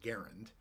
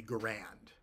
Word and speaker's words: Garand: M1 Garand and uh the proper pronunciation of Garand is garund but there are people who will gun splain to you that it should be grand and I think they're